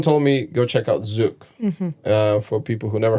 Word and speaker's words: Zouk: just and someone told me go check out Zuk. uh for people who never heard of Zuk. It's spelled Z O U K and uh yeah and then I went to Zuk and I met you and the community is